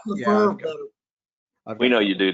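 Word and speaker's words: Lefèvre: Edwin Lefebvre is actually how it's pronounced. Is that the one with the charts annotated by William O'Neill? Yeah. I like Lefebvre better.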